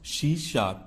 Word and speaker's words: C#: तो देखो यहां पे आपको स्क्रीन पे दिख रहा है सी#श इज़ प्रोनाउंस्ड C शार्प।